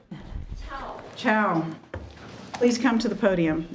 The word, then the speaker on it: Chao: Lily Choa. Did I say that right? Chow.